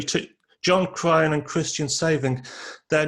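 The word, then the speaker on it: Sewing: this guy called Christian Saving, the W pronounced as Fee or something in German.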